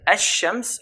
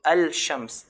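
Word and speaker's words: الشمس: And ash-shams or wal, wow here. So we have here the word al-shams, the sun. How would we pronounce it? Pronounce it as ash-shams.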